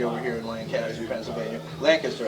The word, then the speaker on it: Lancaster: Lancaster, actually. That's how they say it. I get corrected all the time. I say it both ways.